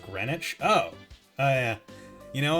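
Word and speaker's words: Greenwich: we think of like why is green wi pronounced grenwich oh oh yeah you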